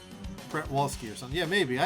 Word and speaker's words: Przewalski: You always pronounce it like pretzel. Pretzel Wild Horses it is. Yeah. Przewalski. Pretwalski or something.